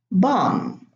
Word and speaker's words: bomb: Now, the first words here, thumb, bomb, climb, they end with a silent B, and they are all preceded by an M. So B after an M is silent in those words.